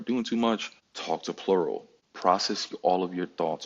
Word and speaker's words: Plurawl: Plurawl. The W is silent, but that don't mean you have to be.